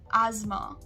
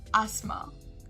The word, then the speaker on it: asthma: to the 12th word asthma asthma looking at the american pronunciation instead of the s we'll say it as a z so it will be asthma asthma but coming to